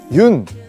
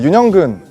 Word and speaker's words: 윤: 여기 보시면 크기 있는데요 많은 분들이 아마 그 윤 이제 윤이라고 읽거든요 연이라고 읽으실 수도 있고 뭐 여러가지 방법으로 읽을 수 있는데 그 윤영근 화백님의 성입니다 그래서 외국에서는 윤이라고 많이 부르기 때문에 제가 그 윤이라는 그